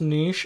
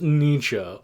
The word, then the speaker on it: Nietzsche: have one quibble okay it's not pronounced Aneesh it's pronounced Nietzsche aha Friedrich Nietzsche go